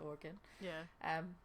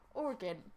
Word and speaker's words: Oregon: So the Oregon Trail, though it originally ended in Willamette Valley,